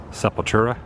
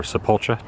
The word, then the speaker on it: Sepultura: for the first time sepultura or supultra depending on how you pronounce it in here as well